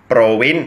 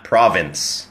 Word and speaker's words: province: คำ นี้ ครับ Province Province ไม่ ใช่ Province นะ ฮะ Province Province ดัง นั้น ถ้า จะ ถาม ว่า คุณ มา จาก จังหวัด อะไร ครับ ก็ คือ What Province are you from What Province are you from นะ ตัว v ก็ คือ for fun ที่ เพิ่ม เสียง ก้อง ที่ ลำ คอ นะ ครับ หรือ ที่ เรียก ว่า ฮะ a voiced f นะ ฮะ ตัว f